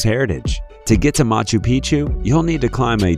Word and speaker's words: Picchu: machu picchu peru when a place rhymes with picture you can almost bet